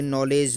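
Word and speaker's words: knowledge: जैसे कि नॉलेज, नॉलेज का मतलब के साइलेंट रहता है।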